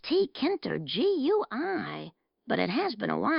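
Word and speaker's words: Tkinter: I believe it is pronounced T-Kinter, G-U-I.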